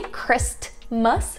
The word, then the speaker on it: Christmas: You don't say Christmas, right? It's kind of being omitted.